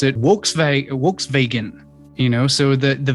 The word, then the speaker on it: Volkswagen: languages they pronounce it works vegan you know so the the v and the w enunciation is inverted the w is pronounced as a v and the v is pronounced as a w because of this um